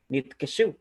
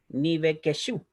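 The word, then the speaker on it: נפקדו: Ese shba debajo de la bet no suena vocal, ¿ya? Pero la segunda sí suena, como dice esta regla. Por eso yo pronuncio nitkeshu y no nivekeshu, ¿ya?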